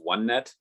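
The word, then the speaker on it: O*NET: information from this organization i believe it's pronounced onenet online um and i'll put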